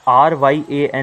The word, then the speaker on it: Ryan: Bro, it's Ryan. रायन. The first part is Ra, second part is Yen. Check, Yeah, check, check, the Japanese currency Yen. अच्छा, पर इसमें सिर्फ RYAN लिखा है तो रायन.